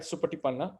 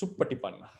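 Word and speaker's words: Suppaṭipanna: We normally recite Supatipanna, but in grammatically, philologically, it's Suppatipanna because the word comes from Sanskrit word is Supratipanna.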